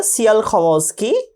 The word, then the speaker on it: Tsiolkovsky: So given here, Tsiolkovsky, T is silent here, Tsiolkovsky, a Russian scientist. Tsiolkovsky was a Russian scientist, and Goddard, an American scientist, were the pioneers to work on rockets.